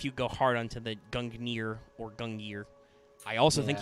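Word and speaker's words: Gungnir: don't know if you go hard onto the gungner or gungyer i also think you might be able to spell that spear both ways possibly because some languages are weird about that okay it is pronounced gangner all right interesting so the g is silent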